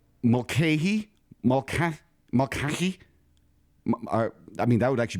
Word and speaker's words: Mulcahy: Mulcahy. You say it. Do me a favor. You say it. Teach people right. How do you say it? Mulcahy.